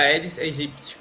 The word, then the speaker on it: Aedes aegypti: No, bueno, la especie se pronuncia Aedes aegypti, pero igual no hay mucha diferencia. En Brasil se pronuncia de una manera y en países que hablan español de otra.